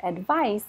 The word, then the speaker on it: advice: this advise advise advice soft as sound advice is the noun advice I need some